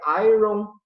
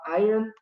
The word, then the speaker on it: iron: Não é iron, né? A gente fala iron, é uma pronúncia diferente, uma exceção à regra, que tem poucas, mas é uma coisinha aí diferente aí que acontece.